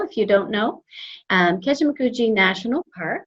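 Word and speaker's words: Kejimkujik: and also in this region we have our kejimakuji that is how you pronounce that word i know it's a struggle if you don't know um keshimakuji national park it's one of two of our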